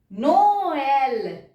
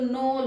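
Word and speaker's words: Noël: जब same word में आएंगे तो सेकेंड वर्ड पे पहले तो हम त्रेमा लगाएंगे और दोनों ही प्रोनाउंस होंगे। नोएल, अगर मैं नहीं लगाती तो नोल हो जाता। अब मैंने ये लगाया है तो ये भी प्रोनाउंस होगा, ई भी प्रोनाउंस होगा, नोएल होगा ये।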